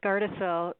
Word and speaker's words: Gardasil: He asked, will the new health department provide vaccines like Gardasil? I'm not sure if I'm pronouncing that right. Lisa? That's right, Roger. It's Gardasil.